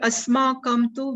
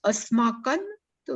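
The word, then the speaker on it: अस्माकं तु: Generally people speak like this. They pronounce like this. But we have to pronounce Asmakan tu Vishishtaya. Because here this Visarga is followed by Takara. So now you try which one is better. Asmakam tu Vishishtaya or Asmakan tu Vishishtaya. Because Ta is a Dantyaha, dental, and Na is dental, then it is comfortable.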